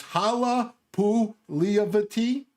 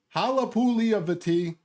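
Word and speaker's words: Halapoulivaati Vaitai: calls him big v i practice this it's hala pu lee of the t hala puli of the t eagles and lions team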